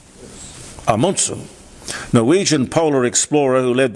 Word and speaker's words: Amundsen: Now, I'm told by my Norwegian wife, Kari, to always pronounce his name properly. It's not Amundsen. Apparently I've got to say Amundsen. Amundsen.